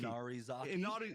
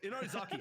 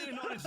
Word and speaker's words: Inarizaki: Well, how do you pronounce the name? I'm blanking. Inarizaki. Inarizaki. I was going to call it Inarizami.